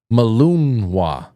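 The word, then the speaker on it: Malinois: Jay Britz just said, "Frank, it's pronounced Belgian Malunwa." Malunwa. Malunwa.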